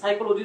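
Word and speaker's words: psychology: তারপর হচ্ছে সাইকোলজি, সাইকোলজি যে সাবজেক্ট আছে সেখানে দেখো হচ্ছে প্রথমে পি শব্দটি আছে, কিন্তু যখন আমরা উচ্চারণ করছি সেখানে কিন্তু পি শব্দটি আসছে না।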